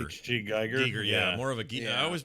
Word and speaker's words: Giger: By the way, I found out he pronounced his name Giger, which really annoyed me because I've never said it as Giger my whole life.